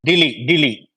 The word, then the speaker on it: Dili: the Indians get confused because India's capital is Delhi. Timor capital is DILI. So DILI. So the pronunciation is same. The pronunciation same, almost same.